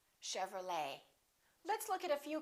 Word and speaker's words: Chevrolet: We don't say Chevrolet. Chevrolet.